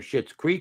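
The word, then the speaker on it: Schitt's Creek: She won for Shitz Creek. She won. That's how you pronounce it, isn't it?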